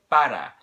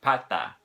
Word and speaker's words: pata: of that tea and it's not the way that a native Spanish speaker would pronounce the T in the word but the meaning part of an animal you if you say vada instead of pata you've